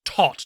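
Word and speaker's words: Toht: but his name is tot t-o-e-h-t pretty pronounced like todd the german word for death the role was offered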